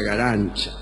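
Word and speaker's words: Garanča: Se escribe Garanca, pero se pronuncia, para su desgracia, Garancha.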